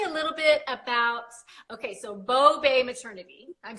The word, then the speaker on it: Bao Bei: Technically, there are several pronunciations of the word, but how we say it here is Bao Bei. So Bao, B-O-W, and Bei, before there was a Bay, right? B-A-E. So Bao Bei.